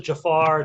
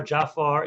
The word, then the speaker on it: Jafar: I mean, you can pronounce it Jafar, Jafar. There's a couple of different Yeah. ways of pronouncing it, but I It's kind true.